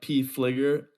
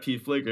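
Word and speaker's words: Pfliger: on instagram at p flicker p-f-l-i-g-e-r the p is silent you can also uh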